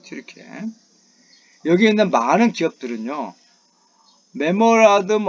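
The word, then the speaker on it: Türkiye: 자, 많은 기업들이 한국이라든가 우크라이나, 폴란드, 그리고 튀르키예, 이건 옛날에 터키를 발음했는데 걔네들은 터키를 발음 안 한다 그래요. 영국식 발음이죠. 튀르키예입니다. 튀르키예.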